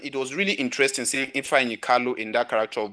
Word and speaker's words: Ifeanyi: All right, the last actor we'll talk about is, how do you pronounce this? Ifeanyi? Ifeanyi? Kalu? Ifeanyi, that's the name.